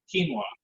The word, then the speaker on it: quinoa: But here we like to substitute with various things, and today we're substituting it with quinoa, and that's written quinoa and pronounced quinoa.